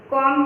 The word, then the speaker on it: COMB: Next picture हमें कॉम का दिया गया है, तो उसमें COMB कॉम्स का स्पेलिंग होता है, लेकिन उसमें जो B है वो साइलेंट है।